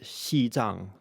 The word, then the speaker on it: Xizang: In recent years, China started using the Mandarin pronunciation of Tibet, Xizang, to refer to the